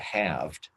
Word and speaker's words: halved: That I think that's more easily understood, and also just in terms of audio, hearing the word halved, with the silent L is awkward.